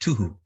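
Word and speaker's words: תֹּהוּ: So this is the first one, and it's pronounced tuhu.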